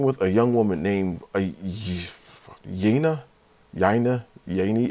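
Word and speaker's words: Yeine: named yina yaina Yani I had actually I had to go to the audiobook to just really find out how to say this because I yeah I think I think I already know right so yeah so her name is yayna I had to go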